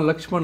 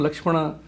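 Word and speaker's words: लक्ष्मण: But because in English we add an A, we have destroyed or created an environment in which we call Ram, Rama, Lakshman, Lakshmana, and Rashtra, Rashtra.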